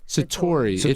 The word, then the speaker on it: Satori: Oh, am I pronouncing that right? Yeah. It's that. Say it again. Satori.